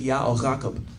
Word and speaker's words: Jacob: you see people's names who we thought was Jacob, it's actually YaKob. Yeah. Because that's when the Egyptians heard it, they wrote YaKob.